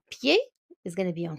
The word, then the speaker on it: pied: So pronunciation of foot is pied, à pied.